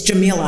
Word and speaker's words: Gameela: But my father did choose the Egyptian pronunciation of it, which a man at a shoe store the other day was very not happy about.